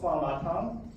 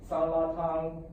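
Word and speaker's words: 酸辣湯: In Chinese, it's called swanlatang, and then in Japanese, it's either sanlatang, suratang, or swanlatang. And I've also heard of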